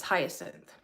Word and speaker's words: hyacinth: Hyacinth.